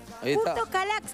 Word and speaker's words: Kürtős Kalács: Porque es re difícil en realidad de Curtos, pronunciar. Curtos. Curtos Calax.